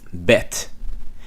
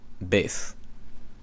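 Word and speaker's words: בית: Okay, so when you see bef here, they pronounce it bet. Same thing with the Sephardic Jews, okay? They pronounce it bet. I pronounce it beth.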